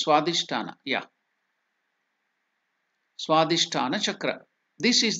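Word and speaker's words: Svadhishthana: slide that is SW it's not visha it is swadish yeah swadish chakra this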